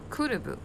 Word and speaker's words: could've: 자, 우리 여기에서 could have 요렇게 쓰이는 것들은 발음을 연음으로 해줘야 돼서 연음을 사용해서 읽어줄 때는 D자가 들리지 않아요. 그래서 could've 이렇게 해주시면 되겠어요.